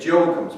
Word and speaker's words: Joachim: the convent and saint joachim's parish and that's their house of formation or people in philadelphia say joachim instead of joachim it's saying joachim like academy yeah yeah we turn